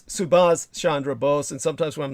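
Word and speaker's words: Subhas Chandra Bose: I speak of him half the time I say Siran uh by accident as in Siran Siran but it's subas Shandra BOS and sometimes when I'm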